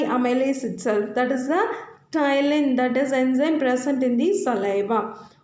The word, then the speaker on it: ptyalin: Another name for salivary amylase is ptyalin. So P is silent letter there.